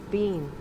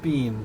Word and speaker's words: Biehn: Bean. No, it's pronounced Bean. According to the internet, it's pronounced Bean, just like you hear it.